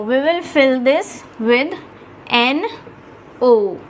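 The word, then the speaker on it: nous: will fill this with n o u s which becomes no in french it is no in french the pronunciation is no and the meaning is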